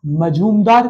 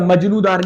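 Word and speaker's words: Majumdar: तपस मजूमदार committee. ठीक है? मजनूदार नहीं बोलना।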